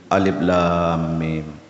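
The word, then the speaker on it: الم: muqata'ah terpotong-potong Maksudnya apa cara membacanya dipotong-potong sesuai dengan hurufnya tidak punya baris kalau dia baca punya baris alamat jadinya kalau Yasin biasa tapi bukan begitu kalau alif lam mimroh alamaro jadi itu bukan terpotong-potong tapi punya baris yang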